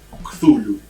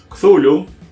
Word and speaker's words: Cthulhu: Hay un montón de formas de pronunciarlo. Ujú. La más aceptada supuestamente es Cthulhu.